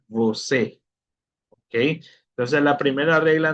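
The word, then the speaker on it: você: ¿Por qué se pronuncia voé? se pronuncia vocé con la e, por lo que el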